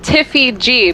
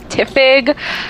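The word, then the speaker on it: Tifig: um xbox it was it was pronounced tiffy g but it was spelled t-i-f-i-g so people would call me tiffig or ty-fi g like they didn't know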